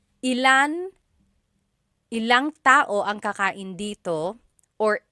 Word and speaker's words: ilang: Just a pronunciation tip. When there's ilan ang, it's usually put together and it's ilang.